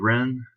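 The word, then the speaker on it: jen: first of the ideals spelled j-e-n but i think the pronunciation is ren so a little unusual but uh ren is the supreme virtue in this set of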